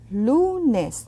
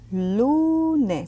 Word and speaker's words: lunes: Lunes. That's Monday. Lunes. See that U? I'm not really exaggerating. That's the way to say it.